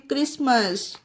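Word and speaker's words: Christmas: H silent है इसमें भी हा कहीं पर प्रोनाउंस नहीं हुआ उ सी तरह से इसे पढ़ते हैं क्रिसमस जो क्रिसमस फेस्टिवल होता है क्रिसमस ओके और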